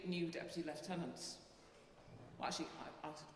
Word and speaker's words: lieutenant: Unfortunately, we have to go to the American pronunciation of lieutenant. We say lieutenant, and you know they say lieutenant. But actually, the derivation is very much in that term. Lieutenant. I am in lieu of the tenant.